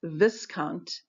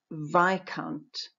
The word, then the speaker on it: viscount: I had been pronouncing Viscount incorrectly. The word is Viscount. If I had looked it up in a dictionary, I would have seen that the first vowel is I and the S is silent.